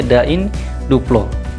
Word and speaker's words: da in duplo: Kemudian kita ambil lagi beberapa, ya, misalnya di sini ada de in dua plo, ya, dalam bahasa Latinnya da in duplo, dan pengucapannya da in duplo.